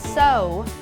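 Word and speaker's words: sow: ซิ นะ คะ แต่ ออก เสียง ว่า so so แปล ว่า เย็บ ผ้า ค่ะ I Always So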